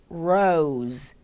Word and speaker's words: rose: 장미, rose, rose, 로즈가 아닌 rose, rose.